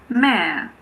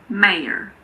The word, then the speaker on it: mayor: It's also often silent in mare. But there are some people who pronounce it, particularly Americans. Some Americans say mare, mare, so it's silent. And some Americans pronounce it. They say mayor, mayor.